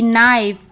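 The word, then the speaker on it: knife: एस बुजीनेसवेयर जब ये एन के पहले आता है तब साइलेंट होता है जैसे एग्जांपल के एन आई एफ ई नाइफ के एन डबल ई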